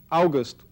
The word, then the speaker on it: Auguste: the 19th century was Auguste Comte it's spelled like Auguste except it's got an e on the ends so like just like the month and his interest was